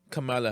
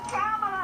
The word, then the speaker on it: Kamala: Hey, I have a rare sighting of the presidential hopeful, ex-Vice President Kamala Harris.